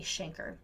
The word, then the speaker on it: chancre: more similar to canker but it is actually pronounced a chancre and these Shanker's are ulcer like lesions with